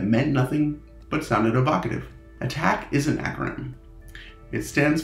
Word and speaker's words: ATT&CK: resembles an a so the acronym can be pronounced attack common knowledge is the documented use of tactics